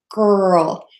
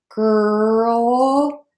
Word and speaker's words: girl: in a little tense some people make it I don't usually do this make it with the tip of their tongue curled back um and then it sort of slipped back well I can do it but it's not natural for me girl so pick which one works for you say that sound girl and then again that